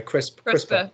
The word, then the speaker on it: CRISPR: A couple of questions about CRISP. Is that how you pronounce it, by the way? CRISPR, like right, potato crisps.